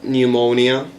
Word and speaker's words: pneumonia: um like that and then we have silent p okay uh pneumonia s psychology which we're going to